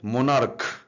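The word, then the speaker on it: monarch: তার নিচে কি আছে, মোনার্ক। এগুলো ক এর মতো, CHটা কিন্তু ক এর সাউন্ড নিচ্ছে, বাংলা ক।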